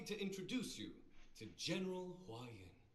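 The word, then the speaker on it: Huaiyan: Allow me to introduce you to General Hua Yin. Hua Yin. Yeah, okay, I said it right.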